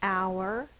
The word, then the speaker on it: hour: says ow the next hour is 60 minutes equals 1 hour Al this word has a silent letter Al has a silent h at the beginning ow